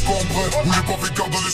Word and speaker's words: Cambrai: Il vient d'une ville qu'on prononce Cambré.